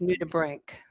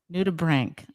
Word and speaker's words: nudibranch: new to brink yes it's spelled n-u-d-i-b-r-a-n-c-h but it's pronounced new to brink new to brink all right and i